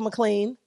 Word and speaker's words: McLean: Even though my dad say McLean and it's not spelled like that, but he from the South. It is what it is. I'm from the South. I wanted to say McLean. Yeah, I say McLean and people like, that's not how it's spelled.